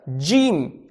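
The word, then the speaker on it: جيم: на русском написала бежим так как у нас русском языке нету с буквы g g поэтому джим написал но произносить ее надо так джим дим возьмем например вторую букву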